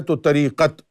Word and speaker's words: Tariqat: This is why the Arabic word 'Tariqah' in Urdu is pronounced as 'Tariqat'.